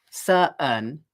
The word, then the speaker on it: certain: is similar because there's a glottal stop, but certain, if I say certain, then I'm going in the second syllable instead of simply going n.